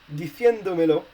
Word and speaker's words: diciéndomelo: So basically, you will need a written accent on the E in order to keep the stress on the same vowel than you had in